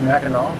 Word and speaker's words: Mackinac: thing yeah because it's mackinaw city right with a w at the end but then mac and neck with the scene here i guess it still pronounced mackinac but this really